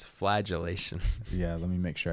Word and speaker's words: flagellation: that thank you now it's not flatulation it's flagellation yeah let me make